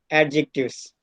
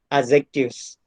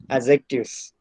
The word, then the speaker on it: adjectives: of this word is adjectives but do you know that the right pronunciation of this word is adjectives here in this word d is silent so we'll call it as adjectives let us discuss adjectives